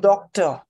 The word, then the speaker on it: doctor: Accent on the first syllable? Yes, doctor.